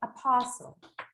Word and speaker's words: apostle: The letter T would be something quite similar, okay? But just don't pronounce it. Let's say apostle.